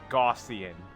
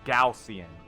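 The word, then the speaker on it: Galcian: Gossian. No, Gaussian. Gaussian. I always pronounced it as Glacian when I was a kid because I was an idiot.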